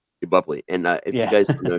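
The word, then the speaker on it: Boepple: sure you can correct me on how to pronounce that it's it's buley buley and if you guys know she played Amanda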